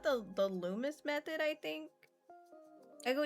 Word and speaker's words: Loomis: So it's pronounced the Loomis method, I think. I go eat I've now. heard Loomies Night. method. No. Yeah. Loomis method.